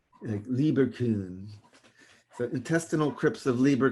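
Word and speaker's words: Lieberkühn: crypts of Lieber Kuhn you gotta use the umlaut so then you pronounce that you have two like that Lieber kun so intestinal crypts of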